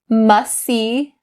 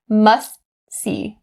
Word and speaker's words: must see: of two things here you can either drop the t sound or stop the t most people decide to drop the t sound because it's a lot easier i'll give you a quick example must see must see so i'm dropping the t sound and this is typically how most native speakers say it but if you stop the t here's what it'll sound like must see must see it's